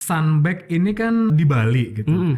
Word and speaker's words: Sunbag: Jadi bacanya Sunbag ya, bukan Sunbag ya? Kadang masih ada yang Sunbak.